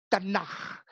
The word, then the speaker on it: Tanakh: Nama kitabnya TNKH. Dibaca Tanakh.